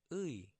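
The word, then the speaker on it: 의: Final complex vowel. Ui. This is probably the most difficult to pronounce, but you'll get it once you practice. Ui, and it sounds like the word bui.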